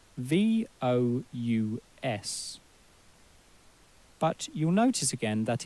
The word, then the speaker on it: vous: And we don't say vous, we say vous.